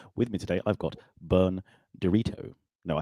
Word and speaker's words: Bern Direto: With me today, I've got Bern Direto. No, I said that wrong, didn't I? That's not how you pronounce it.